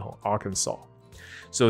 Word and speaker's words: Arkansas: 哇塞 ,OK, 所以阿肯色州知道一下 Arkansas, 它的 SAS 后面的 S 是不发音的 ,Arkansas。So this strange placement occurred because of the Mississippi River's ever-changing course.